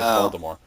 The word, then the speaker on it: Voldemort: Ah, I actually knew that because uh that's how JK Rowling says it. So, yeah, Voldemort.